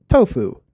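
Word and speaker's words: Toph: We know this due to cases like Tooff whose name sounds like Tough. But if names in the original series were pronounced accurately and according to the way they are written, her name would probably sound more like Tofu to the average angophone.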